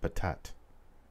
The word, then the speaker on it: Patat: His name is pronounced Patat.